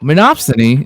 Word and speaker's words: monopsony: So for those in chat that are wondering, wait, did he just mispronounce monopoly? No, monopsony is a market situation in which there is only one buyer.